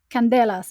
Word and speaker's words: Candelas: for another episode and today I have Miguel Candelas I didn't ask you beforehand if that's how you pronounce your surname but you're very welcome today